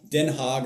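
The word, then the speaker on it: Den Haag: Denhog is how they say it.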